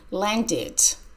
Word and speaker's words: landed: of land teach Andrea landed landed sounds like e d the plane landed an